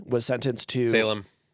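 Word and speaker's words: Salame: salami was sentenced to Salem it's Salem it's Salem bellony literally has to put a pronunciation guide in his stories for this name because everyone calls him Ryan salami but it's Salem do you know what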